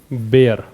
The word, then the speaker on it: bear: एक वर्ड होता है बेयर, BEAR, बेयर पढ़ते हैं इसको, बेयर।